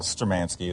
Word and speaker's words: Sturmanskie: Sturmanskie is how I've been pronouncing it? Sturmanskie is how I would, yeah.